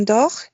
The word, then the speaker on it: dort: Je dors, tu dors, il, elle, on dort, nous dormons, vous dormez, il, elle dort. Sí, ¿qué terminación para las terceras personas del singular? Il, elle, on. T. T. También T, igual no la pronunciamos, la pronunciaste muy bien.